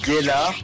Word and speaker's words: Gellar: Alors déjà, de 1, c'est Gellard. C'est pas un G comme un J.